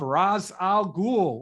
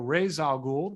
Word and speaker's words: Ra's al Ghul: the first appearance of Ra's al Ghul or Ra's al Ghul, depending on whether you want to go with the Nolan pronunciation or the animated series pronunciation.